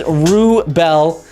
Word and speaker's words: Wrubel: The W is silent. Yeah, you've holy holly gravy. You've been listening. You've been listening. It is Rubel. Wrubel.